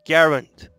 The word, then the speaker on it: Garand: closest friends agree that the name of the rifle should roughly rhyme with errant so this leaves us with the m1 garand before I go straight